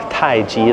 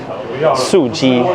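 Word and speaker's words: 素雞: It said, I thought it said Thai Ji, like Thai style chicken, but it was Su Ji, which is like vegetarian chicken, I think.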